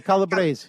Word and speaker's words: Calabrese: Calabrese Bouches? Calabrese? The Calabrese.